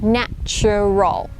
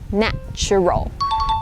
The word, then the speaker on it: natural: It's still the CH sound, so you would go natural, natural.